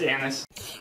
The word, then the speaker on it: Annis: It's pronounced Annis. Oh, yes. Dr. Annis with the Evolving Warfighter.